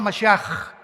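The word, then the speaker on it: משיח: Se escribe Mashiach. Jesús el Mesías en el hebreo. Pero se pronuncia la CH. Yeshua Mashiach.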